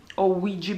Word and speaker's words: Ouija: storie che parlano di tavola ouija luigi board se vogliamo pronunciarla come la pronunciano gli anglosassoni sono super salati